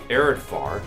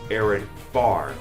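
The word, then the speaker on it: Areadbhar: relic to be specific arid far is pronounced arid far not arid far yes it's pronounced with an F naught of B if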